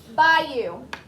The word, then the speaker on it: bayou: Bayou.